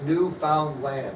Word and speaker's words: Newfoundland: That's Newfoundland, if you want to spell it.